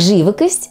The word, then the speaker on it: живокость: легче чем русскае Итак живокость ударение Ставим на первый слог следующее слово сюрприз куркума